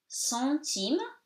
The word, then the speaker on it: centime: Centime, here it's nasal because before the consonant T, so centime, you pronounce the M, you do not say it nasally because you have the E, the vowel.